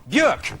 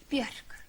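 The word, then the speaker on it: Björk: Please give her a warm, warm welcome for Bjork.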